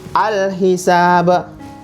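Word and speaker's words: الحساب: Bacanya al-hisab. Alif lam dibaca jelas, ha dibaca jelas.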